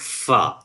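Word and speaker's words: ف: So, that's called fa. To pronounce it completely, fa. Fa. When you touch the upper teeth with a lower lip, you can pronounce easily fa.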